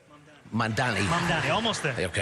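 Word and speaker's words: Mamdani: But vision matters and Mandami said it right. Right. Mandani.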